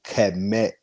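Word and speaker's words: Kmet: Same way with Cole Kemet, not Kemet. Kemet is pronounced K-E-M. That's the first sound in E. His name is the K and the E is a sound connected to Met.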